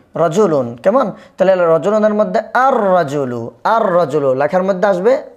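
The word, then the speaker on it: الرَّجُلُ: লেখার মধ্যে আসবে কিন্তু উচ্চারণে আসবে না। তারপরে দেখেন রজুলুন, রজুলুন। কেমন? তাহলে রজুলুনের মধ্যে আর রজুলু, আর রজুলু, লেখার মধ্যে আসবে আর রজুলু, আর রজুলু।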